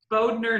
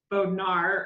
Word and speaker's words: Bodner: And it's Bodner, not Bodnar. Or wait, I'm still saying it wrong. Like Boudie, Bodner. Bodner, not Bodnar. Bodnar sounds so Midwest.